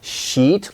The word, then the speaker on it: sheet: a sheet of paper sheet long vowel if you make it short people might misunderstand you and be surprised or if you say I'm